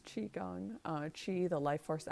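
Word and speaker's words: qigong: spelled q i which a lot of people pronounce ki gong but it's qi gong uh chi the life force energy that piranha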